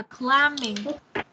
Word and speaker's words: climbing: Từ này đọc là climbing.